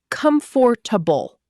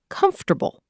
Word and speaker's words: comfortable: Many learners pronounce it as comfortable. But that's not how most native speakers say it. The natural pronunciation is comfortable.